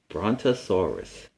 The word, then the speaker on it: Brontosaurus: This is how you say it, Brontosaurus. This dinosaur was a giant, but its mouth was tiny. It ate plants. It ate and ate and ate to fill up its big body. Its name is Brontosaurus.